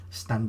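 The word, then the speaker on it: stān: may be an earlier form of the name stand understand in louder documents dating from 1216 probably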